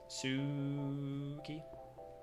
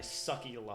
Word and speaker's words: Suki: They pronounce it how you how you want it to be pronounced. Suki.